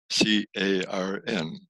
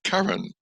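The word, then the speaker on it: Carrin: And I called it the Cross of Carn, C-A-R-N. And I discovered only recently, accidentally, that is the cross of, well, the Cork pronunciation, Carn, but it's spelled C-A-R-R-I-N.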